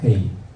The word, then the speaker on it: 헤: 헤이 구멍이 있습니다. 헤이 앞에 나올 때는 흐 발음이 나와요. 그런데 저게 제일 뒤로 가면요 묵음이 돼요. 소리가 안 납니다.